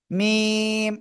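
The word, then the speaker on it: ميم: এই অক্ষরটার নাম কি মিম দুই ঠোঁটের শুকনো জায়গা থেকে উচ্চারিত হবে কোন জায়গায় দুই ঠোঁটের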